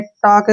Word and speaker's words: talk: से यहां तक देखिए, TALK, इसको टाल्क नहीं पढ़ना है, ठीक है ना, जब भी कभी के से पहले एल आता है तो एल वहां पे साइलेंट हो जाएगा। इसका उच्चारण हम कैसे करेंगे, TA का जो उच्चारण है टा के रूप में लिखेंगे और एल को हम छोड़ देंगे और के को लिखेंगे क, टॉक, क्या बन गया ये, टॉक।